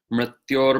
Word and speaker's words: mṛtyor: Okay, so this word mṛtyor is a little hard for people to pronounce because it's important to note that Sanskrit has two different R sounds. One is a vowel R, and the other is a consonant R, and this word has both. So people tend to try to pronounce the R's the same way, but they're two different R's.